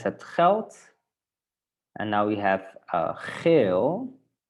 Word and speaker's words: geld: Sometimes when we have the letter D at the end of the word, then we pronounce it with the T. Not always, but often. Okay, so it's het geld.